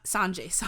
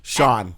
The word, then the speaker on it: Sean: Not Sanjay. Okay. Sean. I was like, how do you say it? Okay. Like Sean. Yeah. With a J at the end.